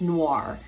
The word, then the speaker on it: noir: spelled noir but if you visualize nwor or ar then you just it rolls noir and so she finally